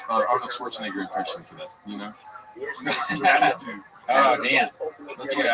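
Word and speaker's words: Iñárritu: And Inyaritu, you have to say his name right. There's an accent on the name. Can I try? Inyaritu. No, wait. Pretty good. That was good? Yeah. Inyaritu? Inyaritu.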